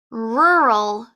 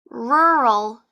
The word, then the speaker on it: rural: in a rural area for this word you have to use the r sound twice so it's not rural it's rural rural so think of a car so I want